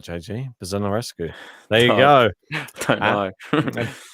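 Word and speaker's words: Buzărnescu: It is I'm going to get this name wrong again. Buzonarescu. All right, JG. Buzonarescu.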